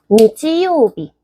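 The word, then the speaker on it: 日: 그래서 게츠, 월, 치읓 발음이죠. 이거에 대한 다른 예시가 여기. 니치요비.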